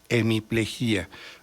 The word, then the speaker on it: hemiplejía: Lo pronuncio como se pronuncia en México, con hiato, hemiplejía. La academia dice que debe ser hemiplegia.